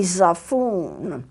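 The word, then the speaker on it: xaphoon: that same thing this happens to be a zafun yes that's how it's pronounced it says the phone sometimes called a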